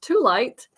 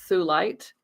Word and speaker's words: thulite: have sold thulite before, but I was convinced it was pronounced tulite. I don't know why. So last night I was preparing for the live gemstone sale today, and I watched videos. It is pronounced thulite.